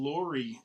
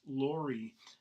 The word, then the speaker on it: LRI: One of them is just a reminder of what we call Lori, L-R-I, pronounced Lori, L-R-I. I know there's no O in there, but work with me here.